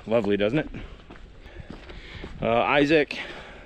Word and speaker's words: Isaac: Isaac, or Isaac, that's how it's pronounced in Australia, apparently.